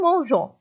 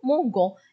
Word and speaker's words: mangeons: bibliothèque du quartier nous mangeons mangeons غنحيدو هذيك er وغنعملو ons terminaison ديال nous ولكن هنا خليناها نقراو mongon اذا غنزيدو e باش تقرا le mangeons باش يبقى النطق هو هذا اذا غنمشيو بالنسبه لال